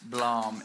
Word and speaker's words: Blom: Blom.